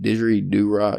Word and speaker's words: didgeridoo: Didgeridoo.